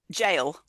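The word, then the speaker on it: gaol: before her time and I'm so going to pronounce this incorrectly which is Norwich is it g jail oh okay sorry they're J spelling but yeah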